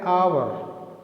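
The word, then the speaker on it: hour: एन आवर, यहाँ पर भी एच साइलेंट है।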